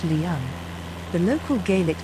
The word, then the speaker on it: Leven: It is spelled Loch Lion in Timothy Pont's map of the area and is pronounced Leon.